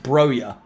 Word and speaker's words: Broja: It's 100% pronounced Broja. I've heard Broja. I'll go with Broja.